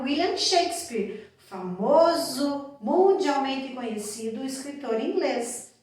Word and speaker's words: Shakespeare: Lembrando da pronúncia, Shakespeare. Lembra da regra principal do inglês? Escreve de um jeito e fala de outro? Nada de Shakespeare, né? Shakespeare.